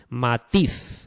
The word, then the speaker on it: matiz: Matiz. Este ejemplo de matiz tiene eh como sílaba tónica tiz, ¿no?